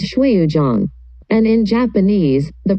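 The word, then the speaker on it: 水滸傳: About the title, the pronunciation in Chinese is Shuiyuzhang, and in Japanese, the pronunciation is Suikoden.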